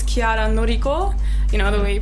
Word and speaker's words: Chiara Noriko: It's Chiara Noriko. Actually, it's Chiara Noriko. The way you pronounce it right, but yeah.